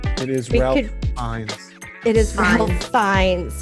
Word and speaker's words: Fiennes: It's It is we Ralph could Fiennes.